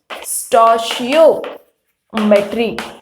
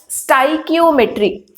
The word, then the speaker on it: stoichiometry: Stoichiometry, and some will pronounce this as stoichiometry. So both ways of pronunciation is correct, so it is up to you which one would you pronounce, stoichiometry or stoichiometry, but I will pronounce